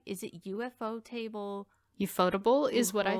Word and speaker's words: ufotable: look this up now in japan they pronounce ufo as ufo speaking as if it were a word and not an acronym tables named after a